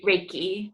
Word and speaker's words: Reiki: I don't know how you pronounce it. Is it Reiki? Reiki, like Reiki, a ray of okay.